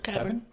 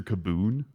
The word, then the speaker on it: Kebun: of Mr Kevin Bo how do I pronounce your your last name properly you said it right Mr Kevin Kevin perfect thank you um thank God because the entire time during that civil suit you said Mr kaboon it's because that's what